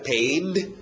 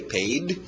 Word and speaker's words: paid: Pay, o passado irregular, paid, só colocar um D no final, engole o D, paid.